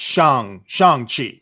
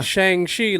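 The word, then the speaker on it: Shang-Chi: this sean chi right it's not shang chi it's shang shang chi um that that's how he pronounced it yes yeah you would think it would be a shang shi like how like you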